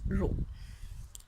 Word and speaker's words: rho: It is pronounced as rho, and it is defined as the ratio of